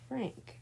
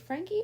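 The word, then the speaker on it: Franke: overtime Frankie's is it Frankie or Frank I think it's Frank I think the E is silent okay then we'll just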